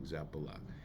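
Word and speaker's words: Zappalà: Emphasis on the last thing, Zappala.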